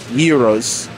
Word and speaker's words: gyro: what is the Our Heroes sorry I go back to the whole way of saying it but so the it's supposed to pronounce here hero so yeah three pack